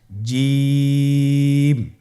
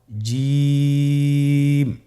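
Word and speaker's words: جيم: আপনারা আমার সাথে করুন জিম মাশআাল্লাহ আবার বলুন জিম আপনারা চেষ্টা করুন হয়ে যাবে এর মাখরাজ হলো জিহ্বার মধ্যখান তার বরাবর উপরের তালুর সঙ্গে লাগিয়ে উচ্চারিত হয় আপনারা পিকচারে ছবিতে দেখতে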